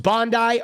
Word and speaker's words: Bondi: Is it pronounced Bondi? Okay, thank you. Bondi Beach, not Bondi.